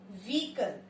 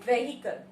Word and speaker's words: vehicle: व्हीकल. The spelling is वेहीकल. वेहीकल नहीं है. इसको हम कैसे बोलते हैं? The correct pronunciation of this word is व्हीकल. व्हीकल. हम क्या बोलते हैं? vehicle.